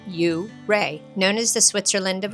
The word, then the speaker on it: Ouray: Just up the road is Ouray, pronounced U-Ray, known as the Switzerland of America, surrounded by jagged peaks and waterfalls.